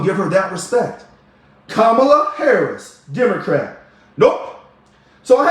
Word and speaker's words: Kamala: Or Kamala, and I'm going to say her name right. Because I'm going to trust that when she says her mother named her Kamala, and that's how they say the name, I'm going to believe